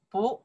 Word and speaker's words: 不: 不, second tone. 用, because 用, for tone.